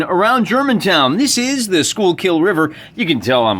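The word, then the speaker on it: Schuylkill: germantown this is the schoolkill river you can tell i'm a local i know how to pronounce school kill spent about five or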